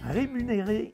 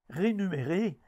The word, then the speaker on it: rémunéré: la capsule l'inversé rémunéré et rémunérations voilà la bonne façon de prononcer et décrire ces deux mondes on entend souvent des gens prononcé rénumérés et rénumération ce sont des formes fautive des mots qui n'existent pas alors on parle de